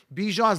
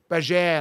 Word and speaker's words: Bijan: I just think no, actually, he came out and said Bijan's not the right way. His mom pronounces it like Bajan or something like that. It's not even Bijan. Bijan's incorrect. Bijan's incorrect.